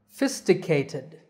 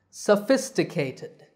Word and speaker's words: sophisticated: complicated developed or advanced the five syllables are s k ted and the stress is on the second fists let's back chain this word learn it in reverse ted cated fisty sophisticated sophisticated sophisticated see it's easy